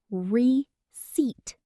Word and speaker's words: receipt: The receipt. Pronounced receipt.